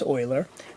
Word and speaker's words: Euler: You don't pronounce it Euler, it's Euler.